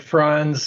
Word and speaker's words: Franz: Yes, I'm Franz. The pronunciation is like Hans and Franz from the old Saturday Night Live skits, in case you might forget.